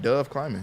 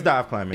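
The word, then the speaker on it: Dov Kleiman: It's I thought his name was like Dove Climbing. It's another. It's Dive. Yeah, it's Dive Climbing.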